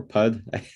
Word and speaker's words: Pood: So Pood or Pud. It's funny when you say them out loud. Pood is how I pronounce it.